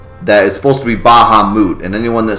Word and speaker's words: Bahamut: over the Internet that is supposed to be Baha moot and anyone that says Bahamut is a jerk